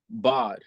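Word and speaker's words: בד: Man alone, the Hebrew word for bad, the A is pronounced as in father, Bod.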